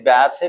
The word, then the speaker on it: bathe: beds BATHE beds BATHE आमर pronunciation किए करती बैथ विभिन्न प्रकार कहते किंतु spoken English रोची बेथ BATHE next लेख पिले बेग